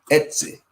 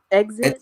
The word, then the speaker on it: Etsy: Etsy. Exit.